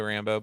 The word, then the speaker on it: Rambeau: It's spelled completely different, but when you say it, it sounds the same.